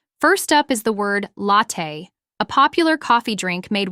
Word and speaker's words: latte: milk in this context when I say medium latte I'm specifying the size remember in many cafes the sizes May differ so don't hesitate to ask what sizes do you offer the pronunciation of latte is La Tei and you can practice by saying it slowly